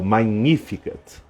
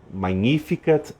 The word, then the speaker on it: magnificat: a esse no magnífica em latim a gente pronuncia o GN como n h o magnificat magnificat anima Mea dominum a minha